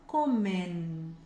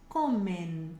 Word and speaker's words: comen: Levanta a língua no final. Comen, comen. Tem que marcar o nzinho no final, ok?